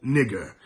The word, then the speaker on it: Niger: Simeon that was called Niger now energy er is their original pronunciation they